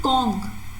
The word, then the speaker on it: conch: conch you pronounce it kong c-o-n-k okay this ch is pronounced as k so again in this